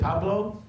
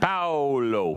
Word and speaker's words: Paulo: Is it Pablo? Paulo. Pablo, thank you. But Pablo is okay. Paolo. I'm sorry, how do you say your name? Paolo.